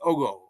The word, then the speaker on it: Ogo: They pronounce it Ogo, O-G-O.